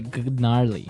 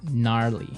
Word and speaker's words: gnarly: gnarly run yeah gnarly so an interesting word it's spelled g n a r l e y okay so but you don't say gnarly no you say gnarly yep and a related word